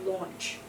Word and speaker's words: launch: a lot of uh there are a lot of situations in English when an au U together become an O and this is a very good example of that so it's launch can you see yeah it's